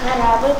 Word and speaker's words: корабль: Корабль, космос, гавань, земля. Так, давайте поставим ударение. Первое слово. Читай. Корабль. Корабль. Корабль. Куда падает ударение? А. Правильно.